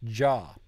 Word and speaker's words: già: Like già. So the G-I-A with the accent is pronounced ja.